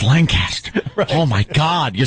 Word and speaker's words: Lancaster: Boulevard yeah on my way to uh uh Lanchester oh you said it wrong it's Lancaster oh my God you said it wrong it's